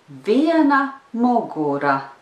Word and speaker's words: viena mugura: Viena mugura. Viena mugura. The rhythm is yes, no, yes, no, no.